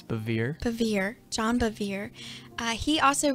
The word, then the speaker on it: Bevere: driven by how do you say it it's bevere bevere john bevere he also wrote a book